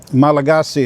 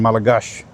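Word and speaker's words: Malagasy: Like um Malagasi is spelled Malagasi, but they call it Malagas. Oh, they drop the Y, but sometimes they pronounce the Y. And you know, and a lot of them used the French one, Malagos.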